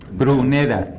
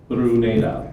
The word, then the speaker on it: Bruneda: Bruneda. 3 syllables. Bruneda, thank you.